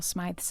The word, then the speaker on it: Smyth: it's the very first recording of Dame Ethel smi's 1930 Symphony the prison James thank you so